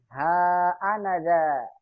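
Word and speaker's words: هأنذا: Tapi dibacanya wajib panjang. Ha anaza. Ha anaza.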